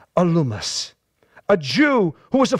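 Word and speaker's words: Elymas: name of bar Jesus or a Loomis I thought it was aliens but I looked up the pronunciation alumus a Jew who was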